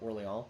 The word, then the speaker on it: Orléans: I'm surprised no one's going for Orléans. Or Orlyon if I want to do the French pronunciation.